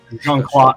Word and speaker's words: Jean-Claude: Jean-Claude.